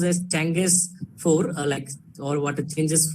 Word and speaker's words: Chang'e: So it's pronounced as Chang'e 4, or what it changes 4 moon lander.